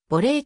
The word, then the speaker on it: ボレー: 派生したらしい発音上はボリーの方が近いというサッカーのキックシュートにおいてボレーキックボレーシュートが